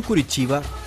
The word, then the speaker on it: Curitiba: sao paulo la ciudad de curitiba con su pronunciación curitiba es una ciudad brasileña capital del estado de